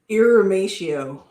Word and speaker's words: irrumatio: Eurymeto? How do you pronounce that? Irimatio.